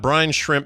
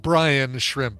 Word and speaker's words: brine shrimp: right let's talk about brine shrimp becoming Utah's official state crustacean yeah please make sure you keep pronouncing it brine shrimp not Brian shrimp yeah not Brian shrimp